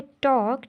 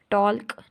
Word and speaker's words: talk: अब ये जो वर्ड है टॉक, TALK, टॉक, तो इसको हम बोल रहे हैं टॉक, TAK, टॉक। इसको हम टॉल्क नहीं बोल रहे, एल को हम क्या कर रहे हैं यहाँ पर साइलेंट कर रहे हैं।